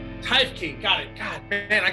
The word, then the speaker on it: Teifke: Teifke. Teifke.